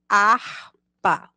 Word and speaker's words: harpa: início das palavras Observe harpa instrumento musical começa com H mas o sumo que aparece no início é o da vogal a Vamos ler harpa hambúrguer lanche delicioso quando